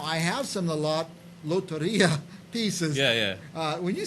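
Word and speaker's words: Lotería: Loteria.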